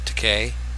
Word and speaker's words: Takei: Takei, as in gay. George Takei rhymes with gay.